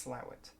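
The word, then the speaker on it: Slaithwaite: area you'll be why is it calling it slow it but i promise you it is pronounced slower and i've got my map open here on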